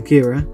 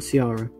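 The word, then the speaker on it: Ciara: then of course there was a storm storm kira which again i apologize i didn't know it was called kira i thought it was probably sierra okay can you blame me if they didn't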